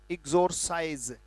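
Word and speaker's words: exorcise: जब आधा लिख ही लिया, राइट, और इसका उच्चारण है इग्जोर, एक्सोरसाइज, ये उच्चारण है, राइट।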